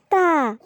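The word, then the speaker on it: ت: হ্যাঁ ছোট্ট বন্ধুরা, এটা হলো তা। জিহ্বার আগাটাকে আমরা সামনের উপরের দুই দাঁতের গোড়ার সাথে লাগাবো। এই ছবিটার দিকে একটু লক্ষ্য করো বন্ধুরা, দেখো ঠিক এভাবেই তায়ের উচ্চারণ আমরা করব।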